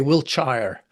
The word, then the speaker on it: Wiltshire: Wiltshire. Yeah, Wiltshire. Yes, that's right. Or you Americans might say Wiltshire, I suppose.